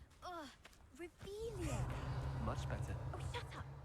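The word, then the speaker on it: Revelio: You're Rebellious. saying it wrong. Ugh, Revelia.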